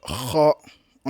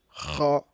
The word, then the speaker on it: ra: Donc le 5, la lettre R, on l'appelle la lettre R. Ro, ce n'est pas la lettre R. La lettre ra.